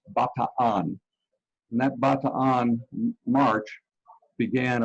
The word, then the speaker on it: Bataan: Maybe you say it Bataan, but the correct pronunciation is Bataan.